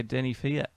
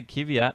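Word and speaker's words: Kvyat: called him Fiat yeah Denny Fiat isn't that how you say it I know a lot of people say kiveat but I was fairly sure it was Denny Fiat oh that's the first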